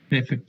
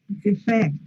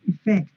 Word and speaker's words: effect: Effect, consequence. Effect. El acento va acá, ¿eh? Effect, not effect, effect.